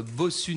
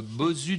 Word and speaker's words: Bosu: Il n'y a pas un défaut de bosu. prononciation derrière. Hein. C'est pas le bossu de Notre-Dame, c'est le bosu de notre Joël adoré.